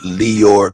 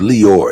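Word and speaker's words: Lyor: steal hip-hop promise but his name is leor it's l-y-o-r at least that's the pronunciation right I doubt if his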